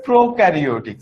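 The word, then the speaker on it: prokaryotic: আর এইটার উচ্চারণটা হবে প্রোকারিওটিক সেল।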